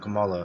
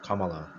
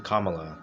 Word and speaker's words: Kamala: I don't remember, it's not Kamala, it's Kamala. Excuse me. Kamala Harris. Sometimes hard to pronounce it. I used to say Kamala. It's actually Kamala.